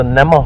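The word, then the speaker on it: gnamma: what's known as a namah hole silent g a water H hole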